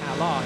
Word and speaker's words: Allied: during free practice 4, Ali. That's not the right way of saying it. Ally is, and I have always imprinted in my mind that phrase that I'll try and never mention again.